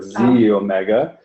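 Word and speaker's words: xEO Mega: so this is a X is actually pronounced like a Z so Z Omega the EO stands for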